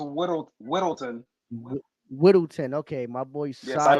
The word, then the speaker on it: Whittleton: It's pronounced Whittleton.